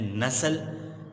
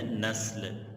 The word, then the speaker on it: نسل: یہ لفظ سنا ہوگا، لوگ اسے غلط تلفظ کے ساتھ بولتے ہیں نسل، نسل درست تلفظ نہیں ہے، درست تلفظ ہے نسل۔ اسی کے ساتھ اگلا لفظ ہے مہذب، اگلا لفظ کیا ہے؟